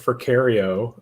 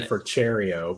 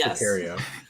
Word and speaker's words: Forcherio: My last name is pronounced Forcherio. I know it looks like it would be Forcherio, but it's Forcherio.